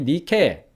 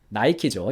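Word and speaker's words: Nike: 이 니케 나이키죠. 영어식 발음으로.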